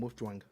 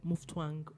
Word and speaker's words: Mutfwang: Please, am I sure I pronounced that? Yeah, nice name, Mutfwang. Yes, Governor Caleb Mutfwang of PDP.